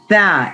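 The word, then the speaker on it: ث: ta, Tha, as I told. ta, Yeah, tha. Take out your tongue. ta, Touch the edges of your front two teeth and try to pronounce it.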